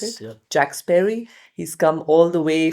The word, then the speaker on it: Jack Sparey: Uh, his name is Jack Sperry. That's how you pronounce it. Jack Sperry.